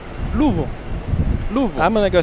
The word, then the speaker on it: Louisville: Yeah, it's not that that's two syllables. It there's somewhere between two and three syllables is a proper way to say it. Louisville. Louisville.